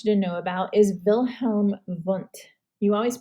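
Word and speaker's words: Wilhelm Wundt: i really want you to know about is wilhelm vonte you always pronounce the w's as these when they're german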